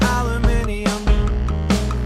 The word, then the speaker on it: aluminium: I pronounce it aluminium, 'cause there's an I next to the U and M.